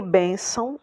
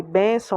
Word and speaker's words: bênção: E bênção é a penúltima. No caso de bênção, a gente encontra aqui